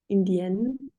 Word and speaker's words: indien: but Indian and then Indienne. Okay, so for the first Sound. one, we would pronounce the same way as australien. Okay, so we don't hear the N, it's indien.